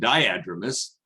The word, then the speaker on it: diadromous: thing i will correct rebecca on is the pronunciation it's anadromous and diadromous um but that those are common mistakes and